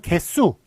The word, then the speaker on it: 개수: 그런데 발음은 개수 이런 식으로 뒤가 수로 소리가 나서 사이시옷 붙여야 될 것 같습니다만 요거 둘 다 한자어니까 붙일 수가 없습니다.